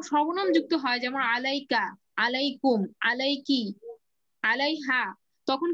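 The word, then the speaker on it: عليكم: আলার শেষের উচ্চারণটা ইয়া উচ্চারণ হয় যেমন আসসালামু আলাইকুম এই ইয়াটা উচ্চারণ হচ্ছে কিন্তু আমি যখন যখন শুধু আলা বলছি তখন লাম উচ্চারণ করেই শেষ হয়ে যাচ্ছে ইয়াটা উজ্জ্ব থাকছে কিন্তু যখন সর্বনাম যুক্ত হয় যেমন আলাইকা আলাইকুম আলাইকি আলাইহা তখন কি ইয়াটার উপরে সুকুন পড়ে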